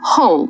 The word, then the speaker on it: whole: Whole. W is silent. It sounds exactly like whole.